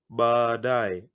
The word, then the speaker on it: baadaye: Tutaonana baadaye. Anytime in Kiswahili you have double vowels, like these 2 A's, you prolong them.